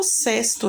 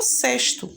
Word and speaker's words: sexto: O que você tem que entender e saber mesmo é que se escreve com X e esse X ele tem um som de S.